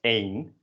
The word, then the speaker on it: één: The indefinite article, un. So repeat that for me, un. You might notice that this is spelled the same way as the number 1, which is pronounced as één, and they are pronounced differently.